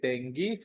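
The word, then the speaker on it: dengue: Suppose somebody is having track Nexti pronunciation deni d e n gu deni fever.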